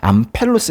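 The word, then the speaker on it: ἄμπελος: 해서 암 페루스 이게 이제이 람다가 밑에 들어가서 암펠로스 이래 되는데 요거는 좀 그렇게 발음 좀 잘 안 하더라고요 암펠로스 뭔 패는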